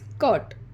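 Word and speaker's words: curt: Next is कर्ट। यहाँ पर भी ये आर साइलेंट है।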